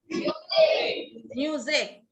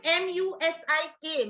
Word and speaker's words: music: Yes, we don't say MUSIK, music, because there is K sound. We just write it like that.